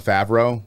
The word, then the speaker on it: Favreau: So is it pronounced Favreau or Favreau? Jon Favreau.